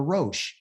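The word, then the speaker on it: ראש: the name of a head is called a Roche same letters are a Resh and a shin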